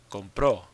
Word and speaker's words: compró: Compró. When you say he bought something, you say él compró something. Now, this is different from compro, which means I buy. Compró, the stress is on the end.